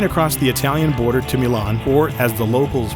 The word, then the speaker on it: Milano: Took a train across the Italian border to Milan, or as the locals pronounce it, Milano.